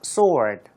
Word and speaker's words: sword: 참고로 sword가 아니에요. 그냥 sword 이렇게 발음을 하시면 되겠군요.